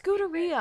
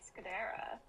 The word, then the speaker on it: Scuderia: It sounds It's Scuderia, I'm fairly sure. How else would you How would you else would you pronounce that? I would say Scudera, but No, it's it's Italian.